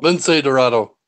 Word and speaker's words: Lince Dorado: Lince Dorado.